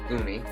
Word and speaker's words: Uni: For the third knot, I'm going to be tying the Umi knot. The Umi knot is spelled U-N-I. It's kind of funny sounding, Umi.